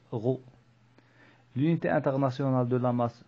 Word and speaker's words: rho: Donc le symbole de la masse volumique et se prononce rho.